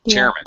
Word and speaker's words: chairman: thing chairman uh okay this is a compound noun so the first first word is very high and stressed and the second one is if anything under pronounced well chairman chair chairman chairman okay